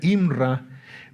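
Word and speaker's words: אמרה: La otra palabra es, en su origen, se pronuncia imra, pero en la raíz es amar.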